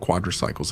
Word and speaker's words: quadricycles: That's how vehicles often called quadricycles appeared. That's not a deliberate mispronunciation on my part. The beginning of the term really does sound like quadri, and this term was